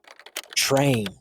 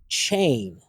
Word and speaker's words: train: a vegetable train so a lot of students don't use the correct placement to properly produce the r consonant sound for a native speaker's ear so without using the placement of American English instead of train I often hear chain election so I hear